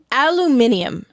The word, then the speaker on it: aluminium: Aluminum is 4. Aluminium is 5. Yeah, they're adding another syllable.